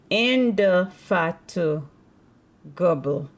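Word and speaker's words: indefatigable: b l e let me see how we pronounce in the fat gble in the fat gble let's see and make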